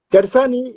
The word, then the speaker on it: Gersani: Bueno, estoy conversando con Gersani o Gersani, ¿cómo lo pronuncio? Gersani está bien.